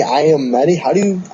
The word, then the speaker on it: Iommi: The production for this album was actually postponed recently because of the announcement that Tony Iommi, I'm always messed up with his last name. Yeah, that's how you say it.